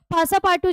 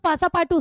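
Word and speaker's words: Passepartout: पासा पाटू जो था पासा पाटू यहां पे हमारे हीरो का एक असिस्टेंट है।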